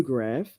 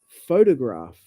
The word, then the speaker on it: photograph: is not correct photo it's not photo photograph it's photograph photograph it's on the first syllable photography yeah photography yeah